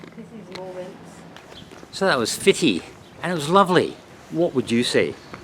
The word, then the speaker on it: Footdee: is the fishing village of Footdee, or it's pronounced Fitty, the second most popular tourist attraction in Aberdeen.